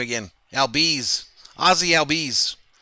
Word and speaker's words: Albies: Albies.